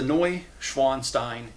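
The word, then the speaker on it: Neuschwanstein: This is a Noi Schwanstein Castle.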